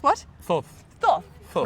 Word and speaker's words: Thoth: We were it's- just arguing about pronouncing the name of Thoth.